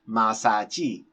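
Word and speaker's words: 马杀鸡: They often either copy the sounds of another language, such as in the case of massage, which is pronounced masaji in Chinese.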